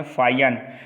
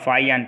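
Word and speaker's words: 法显: हेनस्यांग एक Chinese Pilgrim और एक हैं फाइयान। तो फाइयान, इनको फाइयान बोलते हैं, ध्यान रखना फाइयान, फाइयान। ठीक है, कुछ भी लिख लो, फाइयान बोला जाता है हिंदी में, और वैसे आप प्रोनाउंस कर सकते हो।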